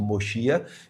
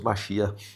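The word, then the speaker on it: Mashiach: com uma coroa escrito moschia. Então esse segmento acredita queb é mosar, como é dito no idi, né? Nós dizemos machia, que é como a pronúncia no hebraico.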